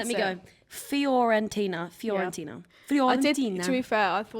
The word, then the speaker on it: Fiorentina: Florentina. It's not called that. That's why I didn't. called? I didn't want to try and pronounce Florentina, it. no, it's- I can't pronounce it. Let me go. Fiorentina.